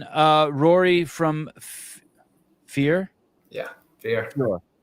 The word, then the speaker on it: Fior: Rory from Fear yeah fear how do you say it I say it fear a lot of our members say Fior as well but Fior fear Fitness in in San